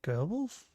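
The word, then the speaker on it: Goebbels: Gerbles, but there's no R in it. Isn't it spelled like G O G O B? It's like gobbles or gobles, right? Gerbles. Pronounce it gerbles.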